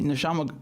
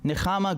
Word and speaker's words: Nechama: Also, my name is pronounced with a cha sound, meaning comfort in Hebrew. Aha. So hold on. Nechama.